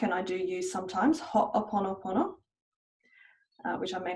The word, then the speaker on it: Ho'oponopono: Some people really like, and I do use sometimes, Ho'oponopono, which I may not be pronouncing correctly, but it's the Hawaiian tool for healing and clearing and cleaning, as Dr.